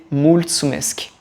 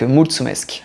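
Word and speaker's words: mulțumesc: une version roumaine c'est multsumesk multsumesk voilà avec le T comme comme pizza ou un TS voilà ça se prononce TS voilà donc multsumesk vous pouvez le dire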